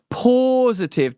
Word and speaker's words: Pawsitive: use it go to positive that's spelled like P A W positive.